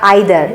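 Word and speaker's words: either: ईदर, ईदर का मतलब होता है भी, ईदर या आइदर, इसका प्रोनाउंसिएशन दोनों होता है, और तुम मछली को भी नहीं पकड़ पाए।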